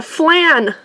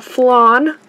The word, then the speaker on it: flan: want it bad oh I got a flan or a flan no how you say it round your part of the country but we call it literally either one is fine we got a body